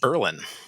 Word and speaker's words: Berlin: that's spelled b-r-l-i-n which you'd think would be pronounced berlin or berlin but uh it's pronounced berlin oh berlin yeah that's actually where uh it's